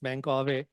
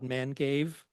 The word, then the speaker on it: Mangave: it becomes mangave and that's why it's pronounced mangave not manave I have heard people